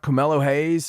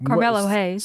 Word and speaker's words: Carmelo Hayes: off incredible show going out we're starting out camelo hayes yes and trick williams yes they're a great team and of course he's the new north american champion yeah absolutely pronounced pal carmelo hayes such a beautiful belt i mean it's a